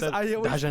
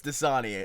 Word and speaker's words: Dasani: I always Dajanay. pronounced it Dasani. No, it's Dasani.